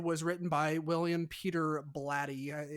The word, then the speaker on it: Blatty: the Exorcist and and she said William Peter Blatty and I was like oh is that how you say his name I almost thought it was body anyways so why I liked